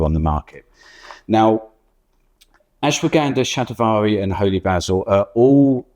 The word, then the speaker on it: shatavari: Shatavari. So everybody pronounce it differently. I guess they do. Yes, sorry, I didn't mean to correct you there, but shatavari is.